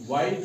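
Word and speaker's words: white: हैं एल विसल नहीं पढ़ते हैं ठीक है वाइट को वाइट नहीं पढ़ा किसी ने पढ़ा किसी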